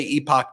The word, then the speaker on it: Epoch: We talked about in the last MeidasTouch podcast how I think it's pronounced Epoch Times, or some people corrected my epic pronunciation. So I'll say Epoch Times.